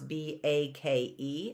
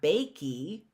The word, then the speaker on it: bake: pronounce that word and there's a line over the vowel that vowel is a long vowel okay so how do I pronounce b a k e i don't pronounce it bakey right it's not bakey